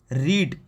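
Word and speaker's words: read: पढ़ना, इसकी वर्ब की फर्स्ट फॉर्म होती है रीड, और इसकी सेकंड फॉर्म होती है रेड। स्पेलिंग सेम है लेकिन आपको प्रोनाउंसिएशन अलग करना है, रेड।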